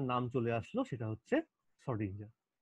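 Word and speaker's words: Schrödinger: এই জিনিসটা করতে গিয়ে এইবারই কিন্তু যে লোকটার নাম চলে আসলো সেটা হচ্ছে শ্রোডিঞ্জার। এই ও এর মাথায় ডবল ডট দিচ্ছি, উচ্চারণটা হচ্ছে ও এ, শ্রোডিঞ্জার।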